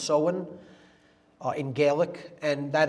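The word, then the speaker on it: Samhain: fall is seen pronounced seen it looks like Sam Hayne in English but it's pronounced soen uh in gaic and that is Halloween or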